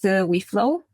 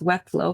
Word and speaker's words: WeFlow: So, I'm the head of AO at WeFlow. That's We Flow, not Wet Flow, because I know a